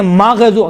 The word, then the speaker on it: مغضوب: غیر المغضوب علیہم، دیکھیں مغضوب، غین میں قلقلہ نہیں ہے لیکن تلفظ کرتے وقت کیا کہتے ہیں؟ مغضوب علیہم، ماغ نہیں ہے۔ غین اور خا میں دیکھیں، غین اور خا یہ کون سے حروف ہیں؟